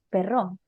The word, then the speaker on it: Perreau: Pero se pronuncia, no lo voy a pronunciar bien, pero Ajá, se pronuncia perro, que perro.